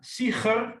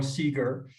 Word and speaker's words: Sieger: So my name has the famous Dutch sound. So Siger, well, that's impossible for most people to pronounce. So in the international British English context, it's more Siger, because only the Arabs can have can pronounce the sound in the back of your throat.